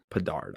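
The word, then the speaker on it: Bedard: do you say his last name Connor Bard Bard I'm so I'm more excited to see Conor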